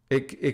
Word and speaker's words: Ai: It can also mean indigo blue, because this is an actual Japanese word, so pronounced like I in English, rhyming with sky.